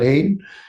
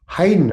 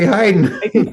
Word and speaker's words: Haydn: a word I said oh no that's not Hayden it's Heiden I said I used to say Hayden yeah but you're gonna say Heiden feel okay about it